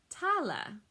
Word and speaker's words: tale: middle english that becomes tala you always hear that middle e on the end um that means that